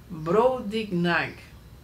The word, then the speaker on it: Brobdingnag: Brobdingnag. Dificílimo de pronunciar.